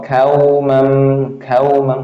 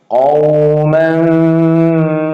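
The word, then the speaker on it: قَوْمًا: Litunzira kauman, nggak boleh ya. Itu bisa merubah arti. Qauman ma.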